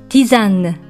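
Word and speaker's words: tisane: 書いてキザンティざんぬと発音します真ん中の s は母音に挟まれているので全部ノートになりティざんぬとなりますフランスには実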